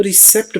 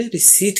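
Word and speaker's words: receipt: साथ प्रोनाउंस करते हैं, वो रिसेप्ट बोलते हैं। पी की यहाँ पर कोई आवाज नहीं है, बिल्कुल पी साइलेंट है, तो ये बन जाता है रिसीट। रिसीट, रिसेप्ट नहीं कहना आपने, आपने रिसीट कहना है।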